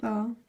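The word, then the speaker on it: ذال: See dal and thal. They don't go underneath the line. And thal has dot on top. Thal is the D-H-E-L. It's pronounced like a this or the.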